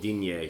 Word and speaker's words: Digne: Like Lucas Digne, I always pronounce his name wrong. Digne? Digne, French. For only 30 mil is not bad.